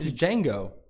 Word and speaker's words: Django: It's Django. Yeah, Django. It's the lawyer in that Law-Abiding Citizen movie. DJANGO. It's Wanda from In Living Color. The D is silent.